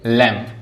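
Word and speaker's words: lamb: जैसे लैम्प, लैम्प में क्या है? बी साइलेंट है, सिर्फ हम इतना पढ़ते हैं।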